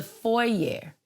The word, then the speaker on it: foyer: Right here, on the other side of this wall is the foyer to my house. Foyer, it's French, no R, it's spelled with an ER, let it happen.